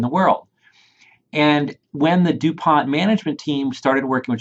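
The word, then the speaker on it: du Pont: Hey, is this the same DuPont that makes the model airplane glue? It is pronounced DuPont. It is named after Helios Irene DuPont.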